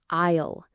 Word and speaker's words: isle: First up, number one isle. A I S L E. Okay. Isisle. The IPA for this isle. Notice listeners, no S sound there.